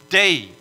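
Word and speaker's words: δεῖ: It equates to a D or delta and an E or epsilon and an I, a iota, right? Dei is the way we pronounce it in Greek.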